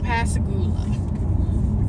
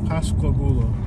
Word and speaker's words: Pascagoula: It will say you are 2 miles from the I-10 West to Pascagoula. Pascagoula. Pascagoula. Pascagoula. Pascagoula. Pascagoula.